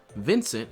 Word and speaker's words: Vincent: Vincent is also pronounced a little differently in Dutch, but I'll stick with the English pronunciation here since that's the one, you know.